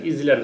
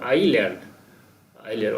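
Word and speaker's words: island: এটা উচ্চারণ হবে আইল্যান্ড ইজিল্যান্ড উচ্চারণ হবে না এসটা সাইলেন্ট থাকবে আইল্যান্ড আইল্যান্ড অর্থাৎ এখানে মালদ্বীপ মালদ্বীপে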